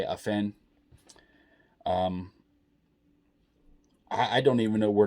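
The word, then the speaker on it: Afnan: His name is spelled A-F-N-A-N. I say Afen. If I'm saying it wrong, please forgive me, but that's the way I say it, Afen.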